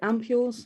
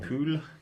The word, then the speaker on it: ampoule: I think, is it ampules? I don't know. how you say it. Ampoule. Yes. Like that.